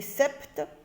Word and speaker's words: sept: 7, qui s'écrit sept, avec un P, et qui est une lettre muette, d'accord?